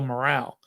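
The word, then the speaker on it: Morrall: think he won with Earl morale or Earl moral I Earl moral I think is how you say it Tom Coughlin Eli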